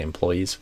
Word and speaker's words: employees: that one go but I usually say employees with the stress on the second syllable employee employees but I think there's variation on that three former employees